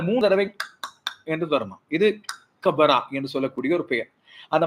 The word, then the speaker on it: Gqeberha: போட்டியை பற்றி பார்ப்போம் இந்த கிபரா என்ற பெயர் நேற்றைய நாளும் நான் சொல்லியிருந்தேன் அந்த பெயரை விட திருத்தமான உச்சரிப்பு எப்படி இருக்கிறது என்று சொன்னால் அது சொல்லும்போது கபரா என்று சொல்லி சொல்வார்கள் அந்த என்ற சத்தமும் சேர்ந்தே வரும் நான் இதை சொல்லிக் கொண்டிருக்கும்